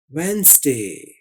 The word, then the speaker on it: Wednesday: तो ये हुआ वेडनेसडे वेंसडे। आपने इसको तेजी से पढ़ना है वेंसडे।